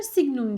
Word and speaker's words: signum: SGN arkadaşlar signum diye okunur. Signum eğer parantezin içi artılıysa sonuç 1 olur.